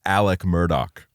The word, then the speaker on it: Murdaugh: off it's spelled Alex Murdoch but then it's pronounced Alec Murdock hey man it's just the accent that's crazy